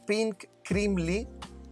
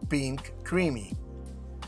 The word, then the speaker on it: Pink Creamy: El siguiente es un híbrido de origen francés llamado Pink Crimley, aunque sinceramente la pronunciación correcta debería ser Pink Creamy.